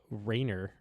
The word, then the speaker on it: Ranger: to my heart was Ranger Suarez, who we found out apparently we were pronouncing his name wrong. It's Rainer or something like that instead of Ranger.